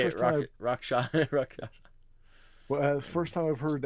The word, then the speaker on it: Rakshasa: Guys, So, I had a buddy who's was Indian, Oh, and his dad said it's pronounced Rakshasa.